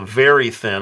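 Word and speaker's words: Verithin: a a what I they call the very thin and they spell it v r i t h i n you could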